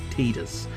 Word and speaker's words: Tidus: Tide, as in the water tide, the sea tide, so Tidus. But I'm fairly certain the official pronunciation is Tidus. But to me, that sounds a little bit too much like tedious, which is kind of a little bit on the nose, because the fella's a little tedious.